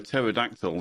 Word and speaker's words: pterodactyl: can't you hear a pterodactyl go to the bathroom I don't know because the p is silent speaking of the p